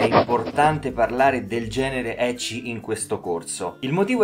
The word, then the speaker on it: ecchi: presa appunto da Wikipedia eci è una parola giapponese che deriva dalla pronuncia del nome inglese della consonante h quindi h ed è sinonimo di